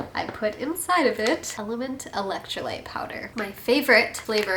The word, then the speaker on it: LMNT: So I'm excited to share with you that this video is sponsored by LMNT. I pronounce it LMNT. It's actually spelled LMNT.